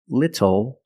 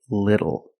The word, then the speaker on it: little: but phonetically it is when you see tle e or ttle phonetically the t is between vowels and for this reason the T changes to a fast D in American pronunciation that's why we do not say little we say little and we do not